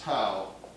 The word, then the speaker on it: tau: a towel has a curly hat this is tau okay this is pronounced tau the magnitude of the torque is the magnitude